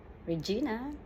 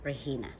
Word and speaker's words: Regina: everybody Uh This is Regina but you can call me Regina it's you cannot pronounce the G It's a he so it's rehina okay everybody I just